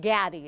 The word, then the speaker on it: Gatti: Tell us now about your next 3 big fights with Gatti. Is that how you say it? Yeah, Gatti, I told Gatti.